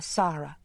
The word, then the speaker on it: Sara: She said, "This is my daughter, Sara." Pronouncing the name so that the first syllable rhymed with car.